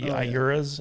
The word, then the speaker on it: Iura: is and how it would mess with the Iuras out there.